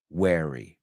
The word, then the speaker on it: wary: It sounds like where llevar puesto. They're homophones. Where are you going to wear that? Okay, esos suenan igual. So this is where más y. Wary.